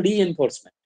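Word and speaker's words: reinforcement: আচ্ছা, এবারে বিভিন্ন ধরনের মেশিন লার্নিং টেকনিক আছে, সুপারভাইজড আছে, আনসুপারভাইজড আছে, রিএনফোর্সমেন্ট আছে, এই উচ্চারণটা হলো রিএনফোর্সমেন্ট, আর একটা হলো সেমি সুপারভাইজড।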